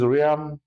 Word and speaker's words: Riaan: My name is Rian. Um that's how you pronounce it by the way.